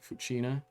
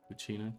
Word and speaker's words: Fucina: It's Italian, so closest would be Fucina. That's fair. Thank you. It's all just letters to me. So, I appreciate the assistance. As always. Fucina.